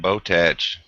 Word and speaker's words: Botach: I think it's tack and not tatch.